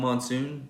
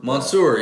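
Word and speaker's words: Monsoor: Actually, the guy who won, Tom Monsoon, is that how you say it? Oh, Mansour? Mansour, Mansour. Was that a FLW tournament?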